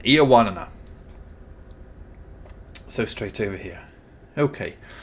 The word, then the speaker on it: Ioannina: I think that, I'm not going to try and pronounce the name of the place we're going to again, but Ionosis. Oh, I can't pronounce it properly. Anyway, that place, I think that was sort of over to the west. Yeah, Ioannina, that's it. Yeah, thank you very much. Thank you, Wikipedia man. Ioannina.